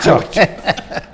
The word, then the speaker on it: Churchill: Numa boa pronúncia inglesa, Churchill.